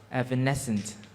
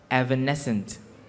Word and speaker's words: evanescent: s i s-c-i-t-s physicist sorry the word physicists is spelled p-h-y c s-i-c-i-s s t s physicists skeleton your word is evanescent please can i have the origin of the